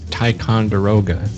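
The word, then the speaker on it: Ticonderoga: H I think the the one you can't pronounce is taon deroga does that sound right oh there we go yeah that's sounds right huh I'm going to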